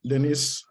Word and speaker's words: Denise: thank you so much Denise I hope that's how you pronounce it yes perfect great I really appreciate